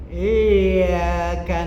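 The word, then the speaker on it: إِيَّاكَ: Ketika baca Fatihah, iyyaka na'budu wa iyyaka nasta'in, masya Allah, ya. Kalau yahnya itu tidak dibaca tasdidnya, dibacanya iyyaka na'budu, artinya kepadamu kami menyembah matahari.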